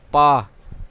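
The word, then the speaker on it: bā: بعد بی اے ہے، اس کا تلفظ پا، پا، جس کا مطلب ہے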